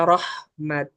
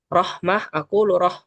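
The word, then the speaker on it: رحمة: eh bakalan tidak membaca Rahmat atau gimana ya rahmatan atau rahmata kan Tapi ketika wakaf kita bacanya rahm di sini tak marbut kita ganti dengan eh ha maka di sini di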